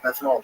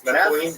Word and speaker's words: methylene: And then I stumbled upon was it methanol blue? Yeah. Do you take me blue? Is that legit? Um, that's not how you say it. What is the methylane? Methylene.